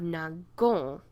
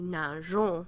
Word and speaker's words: nageons: Otherwise, we'd have nagon, okay, with this hard G sound. We want the soft G, nageons, so we put this E in here.